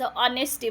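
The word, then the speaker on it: honesty: एचओ आहे मग नेस्टी असं नाही होणार त्याच ऑनेस्टी म्हणायचं ज्यावेळेस मी एन द आर्टिकल शिकवली होती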